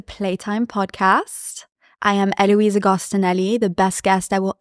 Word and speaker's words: Agostinelli: Agostinelli. Agostinelli. Yes, sure. Perfect. You know what? Whatever. Elena. No, but that's good, right? Agostinelli.